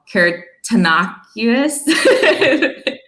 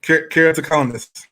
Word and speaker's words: keratoconus: Arthur Mitchell was diagnosed with an eye disease called keratoconus. please pronounce it for me again. All right. Keratoconus.